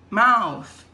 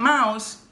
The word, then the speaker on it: mouth: This is your mouth. Notice, students, it's not mouse.